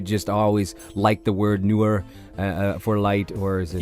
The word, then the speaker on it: Nur: you go by the name newer connect the pronunciation is newer not right now a lot of people I'm sure say nerve right but you don't you don't you don't